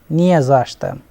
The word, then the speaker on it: не за что: Here, if you pay attention to the не за что, they are separate, but when they are pronounced, it is always pronounced as не за что.